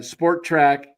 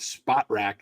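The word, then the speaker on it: Spotrac: and um here's uh sport track is showing uh or spot spot rck is actually how you say it but the Dodgers have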